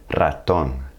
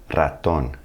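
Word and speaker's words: ratón: is in the word when the r is at the beginning any of the word you're going to have to hit that Trill Raton Raton that's for Mouse we'll use one of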